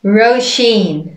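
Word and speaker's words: Róisín: all right named number tree for girls roshin yeah this one's an easy one yep so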